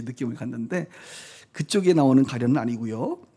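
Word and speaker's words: עני: 아니. 한번 해봐요. 아니. 어디서 많이 듣던 말 아니에요? 아니 얼씬 할 때 그 아니.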